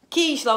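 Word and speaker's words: Kysla: Kisla o nome dela, tá? Se escreve K-Y-S-L-A. K-Y-S-L-A, Kisla, tá bom?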